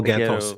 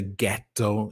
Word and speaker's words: ghetto: That's why the word is spelled with a GH, but we still say ghetto instead of ghetto. We say ghetto.